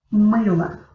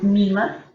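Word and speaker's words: мыло: Mыла. Pongan cuidado que yo no estoy diciendo una I, yo no estoy diciendo mila, pero mыла. Mыла.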